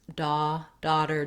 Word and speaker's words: daughter: We don't want son, no rounding, versus daughter does have that rounding.